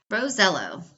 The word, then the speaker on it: Rosiello: He asked his Italian grandfather years ago. He confirmed it, Rosello.